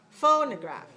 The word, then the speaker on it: phonograph: differently watch me phonograph the second syllable when i pronounce it clear or unclear unclear so it cannot be stressed unclear it must be unstressed must be weak so don't say a phone no okay it's not phone no crap vol no crap no that's not english watch me faux ner